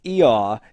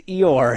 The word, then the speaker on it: Eeyore: a donkey makes, but it is a silent R here, so, so it's named after the noise. It's Eeyaw is his name, but we pronounce the R, so he's Eeyore here.